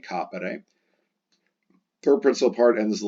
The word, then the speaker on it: capere: Second principal part ends in a short ERE, capere, accent on the A, capere.